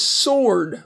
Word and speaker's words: sword: And then the first word is sword, like sword fight, like the famous sword fight in The Princess Bride. Sword, and the W is silent there.